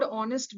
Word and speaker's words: honest: Although we see that the word honest begins with the letter H, but the sound H is silent.